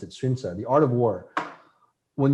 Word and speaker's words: Sun Tzu: If you look at the art of war, Sunza is how they pronounce it in Chinese. We say Sun Tzu, in America, but I think the Chinese pronounce it Sunza, the art of war.